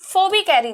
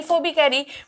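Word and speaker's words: Phoebe Cary: इस पोएम को, ए legend of the Northland को लिखा है फोबी कैरी ने। फीब कैरी, फोबी कैरी, प्रोनाउंसिएशन अलग अलग लोग अलग अलग तरीके से करते हैं, बट आप कह सकते हो फोबी कैरी, ठीक है।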